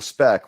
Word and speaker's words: Speck: Now, one of the additional voices here is, of course, Michael Speck, which rhymes with Spock, because I'm required to point out any Star Trek similarities.